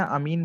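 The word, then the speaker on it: amine: जो प्रोनाउंसिएशन करते हैं एमाइन करते हैं, अमीन बोलते हैं इसको।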